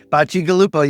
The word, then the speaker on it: Bacigalupo: and you tell me again if I pronounce it what Bashi Galupo is that correct Bachi Galupo you got it Galupa thank you so much